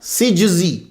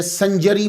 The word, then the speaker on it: سجزی: سید معین الدین حسن سجزی، تو یہ صحیح تلفظ جو ہے سین جیم زا یہ ہے سجزی۔ یہ کاتب کی غلطی کی وجہ سے سنجری مشہور ہو گیا۔ نقطے نے ہی جو